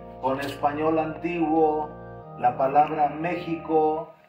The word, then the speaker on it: México: le gustaba venir a México porque él decía que la palabra México, que realmente así es como se pronuncia, México, tiene mucho que ver con el Mashiach, así se pronuncia.